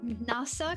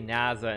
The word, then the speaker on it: NASA: NASA, because it's more than an S sound in English, right? Because in Hungarian, it was N-A-S-A. Oh, NASA. NASA, yeah. Because in Hungarian, it's more of a Z sound, because we don't translate it, obviously, but we say it differently, and that's why I